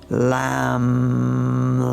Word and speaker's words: Lam: And it's one syllable Sanskrit mantra to chant that as well. Lam, lam.